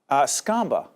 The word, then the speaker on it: Skomba: Michael Skomba, rhymes with? Mamba.